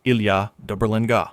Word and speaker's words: Ilha da Berlenga: Pronounced Ilha da Berlenga.